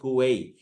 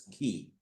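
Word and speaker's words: quay: We might tend to say ku but actually the pronunciation is key.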